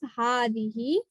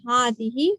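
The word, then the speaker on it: هذه: And just like Hada, it's pronounced with an alif, Hazihi, but we don't write the alif, okay? Just like Hada. So we say Hada and Hazihi, but we do not write any alif here.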